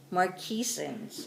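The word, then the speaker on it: Marquesans: one from the marquises islands so they're called marquises okay let's spell that for you they call it okay all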